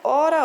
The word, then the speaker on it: hora: lemos essa palavra né Nós pronunciamos ela da mesma forma tanto faz eu dizer hora com H ou sem h né Ora ora elas são escritas